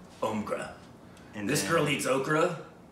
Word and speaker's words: Omkara: Sounds like okra. Not Omkara. Omkra.